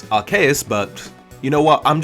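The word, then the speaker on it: Arceus: two you can pick I always used to say arus apparently the correct pronunciation is araus but you know what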